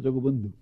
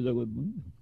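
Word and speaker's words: জগৎবন্ধু: জগৎ বন্ধু পুরীবাসী লোক উচ্চারণ করে জগবন্ধু, আসলে সংস্কৃত ভাষায় জগৎ বন্ধু।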